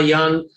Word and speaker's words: Jung: myths especially like uh carl young or jung as some people pronounce it you know he was